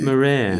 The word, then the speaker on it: Marais: His name is Grant Marais. Is that how you pronounce it? Marais. It's actually Marais. Yeah, kind of French. French and Scottish.